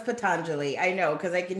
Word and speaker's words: Patanjali: okay we worked it out I know it's patanjali I know because I can hear the people already saying I know how it's pronounced I say Deli because that's how I